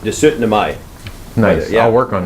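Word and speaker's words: 17. mai: It's pronounced De 17 Mai.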